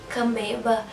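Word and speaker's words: Kambeba: eu conheci recentemente a márcia e a vânia cambeba é assim que pronuncia que eu também fiquei com muita vontade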